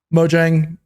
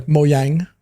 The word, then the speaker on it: Mojang: they talked about um Mojang uh or sorry moyang I think we've all been mispronouncing it incorrectly all this time um but moyang with